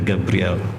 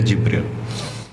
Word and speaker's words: Jibril: Ditulisnya Gabriel. Kita membacanya Jibril.